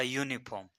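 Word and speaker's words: uniform: लिखा है ऐसा क्यों तो इसका उच्चार हम देखें तो यूनिफॉर्म यानी य यह जो है वह हिंदी वर्णमाला में क्या है व्यंजन है इसके आधार पर हम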